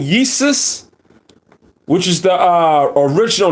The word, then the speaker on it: Iesus: Jesus spelled as Iesus, I-E-S-U-S. Iesus. Now, if you you notice the pronunciation, it sounds like feces.